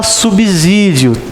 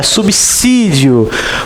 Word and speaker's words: subsídio: A maioria fala subsídio. Tá errado, gente. É subsídio. O S entre consoante e vogal tem som de 2 S. Igual subsolo.